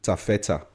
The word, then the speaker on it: TAFETA: of those great things later but then it's pronounced taffeta it's a derivation it's actually a shortening of